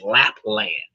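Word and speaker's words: Lapland: La Pen Lapl that could easily be pronounced as lap dance. It's lap land.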